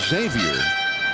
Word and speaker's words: Xavier: Xavier na that's foul na says that the proper way to say his name is Xavier but and it's a